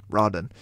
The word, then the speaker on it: Rodden: Rodden, R-O-D-D-E-N, Brock Rodden, and Luis Suisbel, genuinely don't